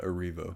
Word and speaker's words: Erivo: her name Cynthia Oro I've heard it pronounced two different ways Cynthia Aro and Cynthia arivo but I do believe it's Cynthia arivo arivo arivo yeah yeah yes she